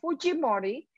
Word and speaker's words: Fujimori: course we have alberto fujimori of fujimori as the peruvians would pronounce his name he was president of